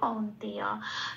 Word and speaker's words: কৌন্তেয়: এবং যেহেতু এটা অর্ধ ন, হসন্ত লেগে গেছে, আগের অক্ষর ক উকারের সাথে জুড়েই উচ্চারিত হতে পারবে কৌন। তে তেটা পড়ে রইল, অন্তস্তটা পূর্ণরূপে উচ্চারিত হবে কৌন্তেয়। তাহলে আমার এখানে শব্দের উচ্চারণটা পেলাম কৌন্তেয়।